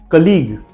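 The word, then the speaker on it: colleague: मैंने क्या कहा था लास्ट वर्ड जीयू ई हो वहां पर भी यू साइलेंट जाता है उसके एग्जांपल से टंग लीग कलीग एंड प्लेग अब ध्यान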